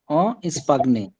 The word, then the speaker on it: Espagne: En Espagne. স্পাইন, Espagne. হ্যাঁ, ভাই জি উচ্চারণটা হবে না এখানে?